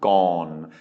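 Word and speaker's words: ก่อน: This has MYEP though, so this is gogai, MYEP, o-ang, nonu, gone.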